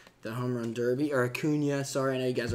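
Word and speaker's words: Acuña: on a recording and you say hakuna and not a Cunha a Cunha ten people are gonna tell me Justin do you know that this is how you say it I do I purposely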